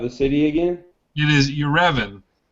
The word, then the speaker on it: Yerevan: It is Yerevan. Spell it.